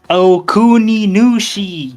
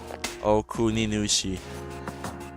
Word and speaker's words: Okuni: It's It's Okuni, man. Okin. Well, I can't pronounce Japanese names, but You're wrong again. Oki. Okuni. Hey, you said it proper.